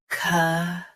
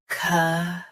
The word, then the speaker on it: chasm: CHASM. Say ka clearly, then soften zm. CHASM.